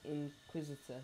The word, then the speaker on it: Inquisitor: all your points in the how do you pronounce that? It's Inquisitor.